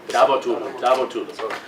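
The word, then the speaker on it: Davutoğlu: Okay, I have trouble pronouncing his name. Davutoglu, Ahmed Davutoglu. Davutoglu.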